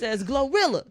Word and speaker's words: GloRilla: Like that like that double L with a Y sound. Yeah, I thought it was Gloria. Like anyways, her name is anyway. Maybe it is. Maybe we've been saying it wrong.